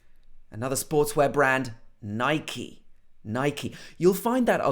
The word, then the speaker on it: Nike: In the past, I also used to say Nike, but really it should be Nike. Nike.